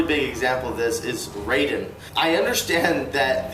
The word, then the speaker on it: Raiden: example of this is raiden i understand that the japanese pronunciation of the name raiden would be ryden however the video game